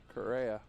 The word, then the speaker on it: Correa: And we've got a correct pronunciation for Andrew Correa. Correa. Is that right, Correa?